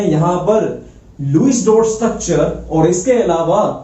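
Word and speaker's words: Lewis: बेटा इसकी exact pronunciation लुईस है, कोई लेविस बोलता है, लेविस नहीं बोल रहा, हमको बोलना है लुईस।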